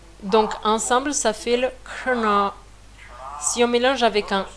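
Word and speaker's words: क्षण: C'est difficile de prononcer parce que autant le ksha que le hana, ce sont des mots qui sont cérébrales, des sons qui sont cérébrales. Donc c'est prononcé avec la langue qui touche le palais et en faisant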